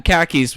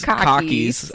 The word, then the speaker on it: khakis: oh c yeah C khakis which he pronounces Cockys almost like he's saying car keys uh so the next